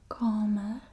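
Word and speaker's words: kamer: in the house so room is comma this is a long a sound calmer and this is bedroom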